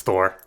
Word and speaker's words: Thor: Also this is Thor. His name rhymes with lore.